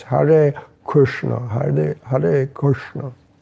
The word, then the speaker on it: Hare: Actually, the Hare is not retroflex, so it's Hare Krishna, Hare Krishna.